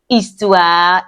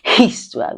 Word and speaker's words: histoire: Histoire is stories or history, but in this case, it means stories. H in French is not pronounced as that's why we didn't say histoire. We say what? Histoire.